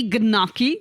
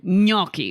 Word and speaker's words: gnocchi: Just don't say gnocchi. Don't say that. Yeah. Well, that's the hard part, is getting that G and N together. Exactly. Gnocchi.